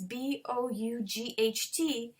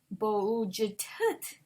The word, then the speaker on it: bought: It's B-O-U-G-H-T. So some people think it's bo-u-j-t-t, but we say bought, caught, fought.